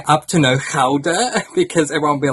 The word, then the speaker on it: Gouda: It's interesting the pronunciation that we have in English-speaking countries that we call the cheese Gouda. In Holland, it's actually pronounced as Gouda, but it wouldn't sound